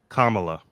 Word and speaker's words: Kamala: just corrected the other night by my girlfriend Kamala Kamala okay kamot um had absolutely no um